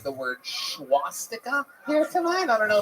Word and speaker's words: swastika: there is no H in the beginning of that word. Seriously? But I swear to God, I think it made it like 8 times funnier. It really. Swastika.